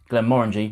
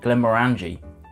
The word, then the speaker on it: Glenmorangie: original ten year old that's right kids it's pronounced Glenmorangie not Glenmorangie this DRAM itself is really widely available it's